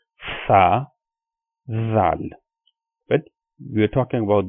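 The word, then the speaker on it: ظ: the difference between the two is that this one, za, we pronounce this sound with more stress, or you can say that we pronounce it with kind of a whistle sound, like that sound, za.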